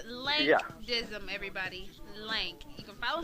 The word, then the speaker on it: Lank Dizzim: we were talking about the pronunciation of your name it's link dim everybody link you can